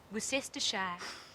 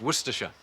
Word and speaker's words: Worcestershire: Worcestershire. Where's that? No, it's pronounced Worcestershire.